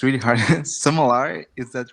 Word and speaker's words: sommelier: So I googled checked it because it's a French word. So Yeah. so sorry I pronounced it wrong at first, but it's French. It's a sommelier.